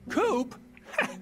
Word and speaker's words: Coop: you can call me coop coop that rhymes with scoop i'm friends with i'm